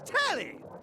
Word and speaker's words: Telly: BEFORE WE GET TO WHAT'S ON my screen, LET ME PROPERLY SET THE name's Telly. Rhymes with Nelly. Like, whoa, Nelly.